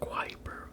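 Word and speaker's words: Kuiper: beyond neptune is the cooper belt cooper rhymes with viper okay so it's wiper belt quite prized with viper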